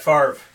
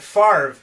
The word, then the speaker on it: Favre: So there's Brett Favre. For the first time ever, Brett, that's the way that it's spelled, the way that it sounds.